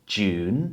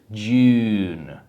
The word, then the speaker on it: June: June niby prosta wymowa, jednak pragnę przypomnieć, że polski u nie przekłada się świetnie do języka angielskiego, bo to nie jest jun. It's not je, it's June. O wiele bardziej idzie z gardła ten u, ten dźwięk.